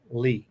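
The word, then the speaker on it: Leigh: for him is pronoun is spelled l-e-i-g-h Lee not l-e-e l-e is my middle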